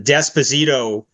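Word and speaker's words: D'Esposito: gillan's ads were uh desposito is very clearly a spartic Jewish name it could be and apparent but you are you are obliged to pronounce a d Esposito apparently so but um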